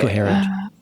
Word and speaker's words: coherent: Um it about about what you middle You you rhyme that middle syllable with the the fuzzy stuff on top of the head. You say coherent.